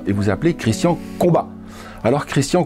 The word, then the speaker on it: Combaz: de lointaine ascendance savoyarde on devrait donc en bonne logique ne pas prononcer le z et vous appelez de christian combat alors christian combes à quoi eh bien